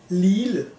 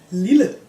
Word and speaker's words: lille: You can hear the double L is just an L sound. If we assume that there was a word like this one, like lille, but with only one L, the pronunciation would be lille. The vowel becomes long and kind of sharp. But when you have double L, it is lille, lille, lille. Hear the difference?